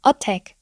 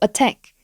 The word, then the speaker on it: attack: 줄 수 있어요 마찬가지예요 attack attack 너무나도 어색하죠 그래서 우리는 앞에 슈아 발음기호가 있다는 것을 인지하고 attack attack 이렇게 발음을 해 주셔야 됩니다 세 번째이 단어 어떻게